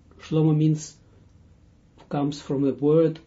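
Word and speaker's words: שלמה: and remember his name his right name is slow-mo slow-mo means comes from a word Shalom and this is when you pronounce it slow-mo and not in English it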